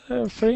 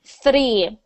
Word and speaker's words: three: perfect so three yeah so all all all you do is make sure your your tongue does not go to the front of your mouth like three yeah and I know